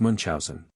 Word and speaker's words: Munchausen: Adventures of Baron mon commonly pronounced Munch Housen as he relates them